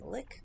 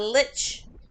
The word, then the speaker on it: lich: what a look is I'll probably mispronouncing Lick Lick how do you guys say that there you go a lich uh you know that